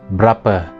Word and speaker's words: berapa: And this is berapa, or usually pronounced berapa. That's a B-E-R-A-P-A.